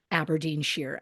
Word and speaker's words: Aberdeenshire: I wanted to say Shire because that's how it's spelled, but I did do, I Google videos from that town because I want to hear somebody say it, right. somebody I can trust. And the person said Aberdeenshire, and they also had a very thick accent.